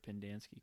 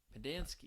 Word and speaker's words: Pendanski: in the book, like his name was like the alliteration of like Pen, Dance, Key. I don't know if alliteration is the right word, but it's like that's how it's said.